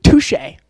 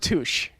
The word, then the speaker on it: touché: well who's the producer to Touche it's pronounced touché